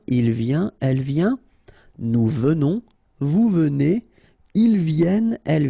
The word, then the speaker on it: venons: Okay, O-N in your nose, on.